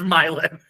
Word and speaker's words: Milan: That's actually correct. It actually is Milan.